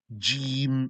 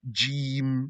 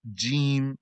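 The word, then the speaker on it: ج: You say alif, ba, ta, not ta, ta, fa, Jim from the middle of your tongue. Jim, not from the front, not Jim, might sound the same. Pronounce it from the middle. Jim, etc.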